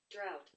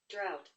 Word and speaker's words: drought: i usually bring in like a more americanized pronunciation of the word but let's hear drought drought even though there is a g and an